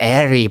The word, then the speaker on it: Erie: It's pronounced Erie, boyle.